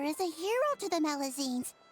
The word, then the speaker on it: Melusine: Wait, a meline. That's the deal for me village traveler. Pon, fancy seeing you here. Yeah, sorry I said the name wrong. The melazine.